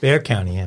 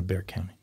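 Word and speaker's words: Bexar: Bear County. Bear County.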